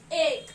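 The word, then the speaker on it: एक: And what do we pronounce it in Hindi? Ek, okay.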